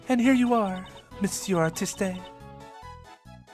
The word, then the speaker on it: artiste: And here you are, Monsieur Artiste. Is it artiste? You just the E is silent.